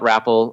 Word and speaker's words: Wrapal: Anyway, I guess, okay, so professionally, check out Rapple. Obviously, it's WRAPAL, like Rap Pal. I hate to say it, but that's how it's spelled, .com.